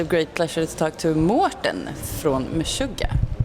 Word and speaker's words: Mårten: I'm at Getaway and I have the great pleasure to talk to Morton from Mishuga. Do you say Morton or Martin? Morton. Morton. We're in Sweden so Morton. Yeah. Yeah. Abroad. Martin.